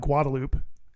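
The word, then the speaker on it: Guadalupe: We call it Guadaloop. Oh, yeah. Which is like not how it's pronounced right at all, but that's just how people pronounce it.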